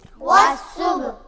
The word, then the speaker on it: والصبح: حاضر ہی، والصبح۔ والصبح، آپ نے یہاں پر دیکھا کہ صاد پر تشدید ہے، اور صاد کو ہم نے واو کے ساتھ ملایا، واو اور صاد کے درمیان میں الف اور لام ہے، الف بھی نہیں پڑھا جائے گا، لام بھی نہیں پڑھا جائے گا، واو ڈائریکٹ صاد کے ساتھ کنیکٹ ہوگا، صاد کے ساتھ مل